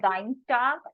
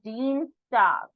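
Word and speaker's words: Dienstag: talk mon Dean star so this is not dine star IE combination so E songs will come so Dean star Dean star MIT walk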